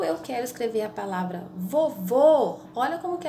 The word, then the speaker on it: vovô: o exemplo aqui só pensa em na palavra vovô ou vovó para a gente poder é escrever